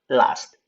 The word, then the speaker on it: last: 그러면 last 하는 거 하고 그러면 s하고 st 이렇게 음절이 없는 자음은 어떻게 발음한다고 그랬습니까? 살짝 약하게 혀만 떨어지는 발음으로 한다고 그랬죠? 그래서 어떻게 발음돼야 됩니까? last. st는 들락말락 해야 돼요.